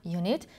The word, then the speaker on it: unit: used before vowels and remember you say an hour and a unit because what matters is what you say not what you